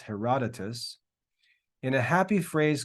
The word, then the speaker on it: Herodotus: Hence, the Greek historian Herodotus, that name is pronounced Herodotus, in a happy phrase called the country the gift of the Nile.